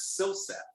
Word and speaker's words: Silseth: That's almost as weird as Silseth. Is that how you pronounce that guy's name? That is how you pronounce that name.